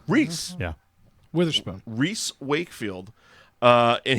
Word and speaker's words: Rhys: Wakefield but he's the lead Oh bill it's pronounced Rhys Rhys yeah Witherspoon Rhys Wakefield and he plays the